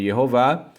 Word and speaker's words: Yehová: Aqui eu vou falar o nome de Deus pronunciando Yehová, porque os judeus da Idade Média e antes, vários judeus, conforme veio à tona um documento publicado onde vários rabinos pronunciavam o nome de Deus com as vogais Shevá Roland Kamatz, pronunciavam Yehová.